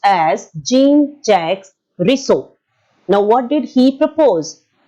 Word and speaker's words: Jean-Jacques Rousseau: It is called as, or it is pronounced as Jean-Jacques Rousseau.